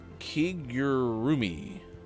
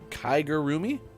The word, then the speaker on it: kigurumi: go out wearing them something called a kigurumi nope Kiger roomie that's probably closer remember how I had